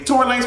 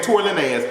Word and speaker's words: Tory Lanez: lane was until recently torrey lanez was a virtually unknown to me so bad that i didn't know how to pronounce his name i was over here saying tori lenez because i had never